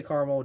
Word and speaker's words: caramel: The caramel M&Ms are caramel, however you pronounce it, because I know it's two different ways. Personally, I say caramel. I'm pretty sure it's supposed to be like caramel, but I say caramel just, because it's just how I am.